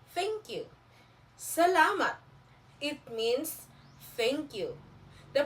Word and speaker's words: salamat: Salamat. It means thank you. The pronunciation of this is salamat. Repeat after me. Salamat.